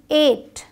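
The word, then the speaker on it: eight: आई जी एस टी एट ई आई जी एस टी एट यहां जी H silent है आपका डी ए वाई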